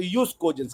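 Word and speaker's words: jus cogens: Clause 4 जो है जस्ट कोजेंस है. क्या है ये? जस्ट कोजेंस. या अगर आप रोमन लॉ में प्रोनाउंस करेंगे तो यूज कोजेंस कहते हैं उसको, जे को वाई पढ़ते वो यूज कोजेंस है.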